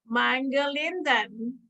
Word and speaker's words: Mangalindan: and most people introducing me struggle to say Mangalindan. First grade, 11 letters, 4 syllables, too much stress.